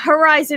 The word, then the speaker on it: Herizon: Is this how to pronounce things correctly? The Herizon Music Foundation.